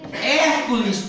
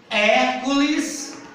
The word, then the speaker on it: Hércules: é próprio certo próprio Hércules tem um acento Olha aonde Não é ele é um proparoxítono a sílaba mais forte é a primeira antepenúltima Tá vendo como é